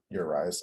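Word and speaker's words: Arraez: eyes coming or not your eyes Arias well like that's how it's pronounced 0.03 or something like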